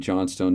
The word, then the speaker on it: Johnstone: And again, Johnstone is zero. So Johnston, it's spelled Johnstone there. It's Johnston.